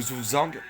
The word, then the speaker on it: Zugzwang: Et le Zuzang, c'est un terme qui reste en allemand. Même si vous parlez une autre langue, vous devez la prononcer dans cette langue-là.